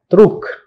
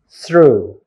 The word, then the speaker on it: through: if you take it for granted you may pronounce trook but it should be through through sound and u sounds okay so how